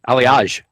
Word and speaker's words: Aliaj: Ali how do you say it aliage aliage of the aliage case and